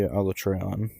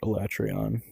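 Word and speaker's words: Alatreon: Uh, call me crazy, but I loved every fight in Monster Hunter World except maybe Alletreion or Elatrion, whichever you pronounce. I think either is fine.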